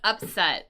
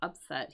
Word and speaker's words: upset: Um, but here we want upset with a accent on the first syllable. So upset here, our unexpected win.